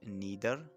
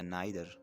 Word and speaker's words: neither: दोस्तों इस वर्ड को आप neither या neither प्रोनाउंस कर सकते हैं.